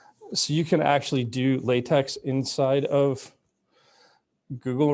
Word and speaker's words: LaTeX: latex inside of google now so anyway google latex it's actually spelled capital a little capital l little a big t little e big x it's pronounced latex not latex okay so there you go uh